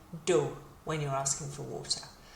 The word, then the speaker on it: d'eau: D'eau. So think of Homer saying Deau when he's remembering something or bumping his head or whatever he does. Deau is how we pronounce it, and like I say,